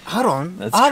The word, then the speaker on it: Aaron: So I'm like aron. That's creepy. Because that's how Japanese pronounce my name.